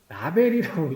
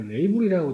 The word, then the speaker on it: label: 라벨이라고 이제 읽는 사람 있고, 레이블이라고 읽는 사람 있고, 저도 가끔 뭐 다르게 읽을 때가 있어요. 저는 라벨이라고 많이 하는데, 네. 레이블, 라벨, 이렇게 많이 읽습니다. 근데 뭐 틀린 건 아니니까.